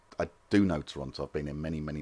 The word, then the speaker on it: Toronto: Toronto, for a native Torontonian, does not contain the letter T. So to pronounce it correctly, you have to chew on all your T's till they become C's. So it's Toronto. Toronto.